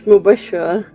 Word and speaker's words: Mubashra: It's Mubashra.